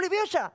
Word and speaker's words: Leviosa: ¡Wingalo leviosa! ¡Dale, pero tú! ¡Wingalo leviosa! ¡Espera! ¡Espera que le vas a romper los ojos a alguien! No se dice esperando leviosa, se dice leviosa, leviosa, leviosa.